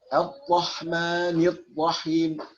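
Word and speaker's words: الرحمن الرحيم: Tapi huruf ra juga ada di sifat bainiyah. Ya, yang karakternya juga sedang. Jadi jangan diucapkan terlalu keras. Allah. Jadi kayak huruf T ya. Ar-Rahmanir-Rahim. Ar-Rahmanir-Rahim. Nir-Rahim. Jangan. Atau jangan terlalu lemah. Ar-Rahmanir-Rahim. Jadi sedang-sedang saja. Ar-Rahmanir-Rahim. Tetap ditekan karena dia ra did.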